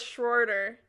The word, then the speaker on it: Schroeder: the name though no it's schroeder it's like it's spelled really it's spelled s-c-h-r-o-e-d-e-r stronger schroeder yeah it's not schrodinger no i knew it was